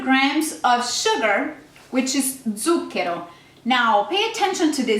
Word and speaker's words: zucchero: of sugar, which is zucchero. Now, pay attention to the Z. We really pronounce the Z harsh, so it's not zucchero, it's zucchero. Zucchero, really big emphasis on the Z.